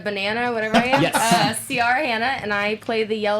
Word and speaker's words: Ciara Hanna: We'll be talking to Ciara Hanna. She told me it rhymes with Tiara Banana. Oh, I said her name so wrong. It's okay. It's Ciara Hanna.